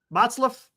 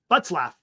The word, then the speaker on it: Butzlaff: Oh, Botzlaff. I think that's how you say it, right? Chris Butzlaff. Butzlaff. That's what it was.